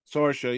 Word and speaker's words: Sorsha: Sorsha? Sorsha, yeah.